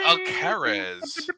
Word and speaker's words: Alcaraz: go, Alcaraz. I can't say your name, but you beat the shit out of Joker, and that's what was great. Oh, Carlos Alcaraz? You don't say Alcatraz? Alcaraz. It's like Alcazar?